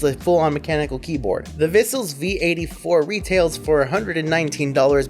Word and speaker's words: Vissles: in my hand the vessels v84 if thistle sounds familiar to you it's because it rhymes with bristles also I've covered one